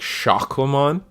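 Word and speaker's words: Sukamon: supposed to play it's it's supposed to be pronounced like shakamon kind of like just like the teacup man so now we have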